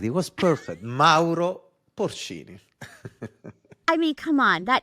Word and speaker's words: Mauro Porcini: Mauro Porcini.